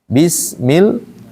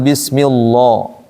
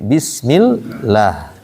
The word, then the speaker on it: Allah: Kalau harakat sebelumnya kasrah, maka lam pada lafaz Allah dibaca tipis. Tipis itu bunyinya a. Maka bacanya bismillah la. Jangan bismillah, tapi bismillah. Kalau sebelumnya fathah atau dommah, maka lam dibaca tebal. Tebal itu bunyinya o. Makanya ee qul huallah gitu.